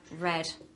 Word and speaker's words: read: we have read and here we have read like the color okay same with the